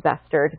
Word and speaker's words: Bestard: my names that badly my last names actually pronounced bustard but I've learned over time to answer to